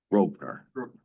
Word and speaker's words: Grosvenor: Groner Rovener Street. Groner Square. Okay. Yeah. So everything is silent in the middle.